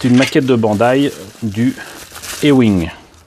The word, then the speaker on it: A-Wing: Et c'est une maquette de Bandai du E-Wing. En français, on le lirait A-Wing, mais ça se prononce E-Wing, la lettre A.